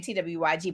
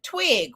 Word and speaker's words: TWYG: I kept saying TWYG, but it's pronounced Twig. So Twig, just spelled different, just like CÉCRED is.